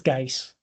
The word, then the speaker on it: Guice: Am I pronouncing your name correctly? It's uh it's G. Gis.